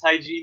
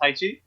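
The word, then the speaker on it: 太极: Taiji, by the way, is Tai Chi. Its correct pronunciation in Mandarin is Taiji, not Tai Chi.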